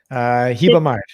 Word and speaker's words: Ribamar: At the end, it's regional. So here it would be Hibamar. In the south, it's Hibamar. In some places, it's Hibamar. So it depends. But at the beginning, it's always.